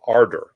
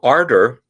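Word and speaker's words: Ardour: the one that i have installed is called ardor a-r-d-o-u-r kind of a i don't know seems british um just the o-u-r so um ardor is a a digital audio workstation or digital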